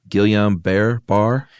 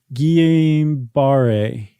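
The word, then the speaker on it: Guillain-Barré: years old and apparently also suffered from uh Gilliam Bear bar Guillain Barre Syndrome yeah we got corrected on that some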